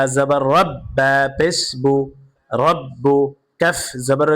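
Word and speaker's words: رَبُّكَ: বা জবর রব্বা পেশবু রব্বু কাফ জবর কা রব্বুকা রব রব রব্বুকা রয়ের উপরে জবর অথবা পেশ থাকলে রকে পুর করে পড়তে হয় অর্থাৎ মোটা করে পড়তে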